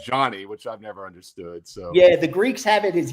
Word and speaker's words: Yanni: And Ace, I've always said I say Johnny, some say Johnny, so I asked you and it's actually Yanni.